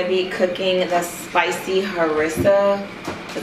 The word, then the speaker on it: harissa: we are going to be cooking the spicy harissa is how you pronounce it harissa chicken bowls i'm so excited about this so